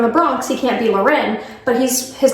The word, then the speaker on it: Lauren: It's not Ralph Lauren. It's Ralph Lauren and it's been verified by Mr. Ralph Lauren himself who's from the Bronx.